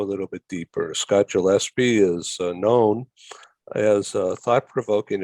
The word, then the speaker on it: Gillespie: And perhaps we should start over just because my last name is pronounced with a hard G, not the Gillespie. So it's Gillespie.